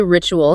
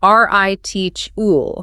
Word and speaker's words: ritual: It is pronounced heritai. Think of the word fridge, heritai. Then we have ritual. People often say ritual, keeping the T sharp.